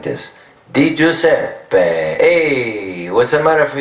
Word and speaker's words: Di Giuseppe: Di Giuseppe, hey, what's the matter for you?